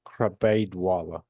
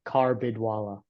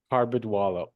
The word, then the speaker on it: Karbidwala: Krabaidwala. Krabaidwala. Yes. Tough name, man. You Right? pronounce it as good as it gets for the first time. It's pronounced Karbidwala. Karbidwala.